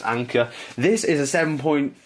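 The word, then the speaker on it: Anker: adapter which is cool I believe you pronounce it anchor a n ke R so I guess it's anchor this is a seven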